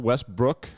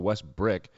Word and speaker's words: Westbrook: watch this so russell westbrook nice i have to tell myself to say his name right russell russell west brook not russell west brick he airballs this three